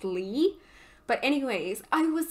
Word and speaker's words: Lea: And with Axel, because there's only 3 letters if you take the X off, I was saying Leah, but like written exactly like they said there, but I guess it's pronounced Lee.